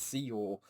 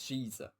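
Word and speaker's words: Xizor: I always get confused with Shizuo's name. I know it's I know it's Shizuo or Shiza. Um but it is spelled X I Z O R. You know, and I always I thought for a while I thought it was Shizuo. Um but apparently it's Shiza.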